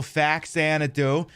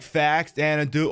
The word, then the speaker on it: Faxanadu: I like that I can pronounce it two different ways, because you could go literally you could go Faxanadu, like Faxanadu, or you could pretend